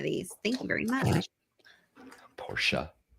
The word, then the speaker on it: Porsche: Porsche. It's not Porsche. Well, I I think did that's how they say it.